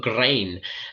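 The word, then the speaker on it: Gráinne: Sounds like Lorraine, but Grain.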